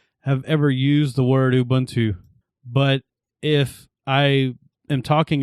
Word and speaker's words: Ubuntu: release that speaking of ubuntu i know how to pronounce it it's ubuntu i understand that i get that but i always say ubuntu when i'm talking about it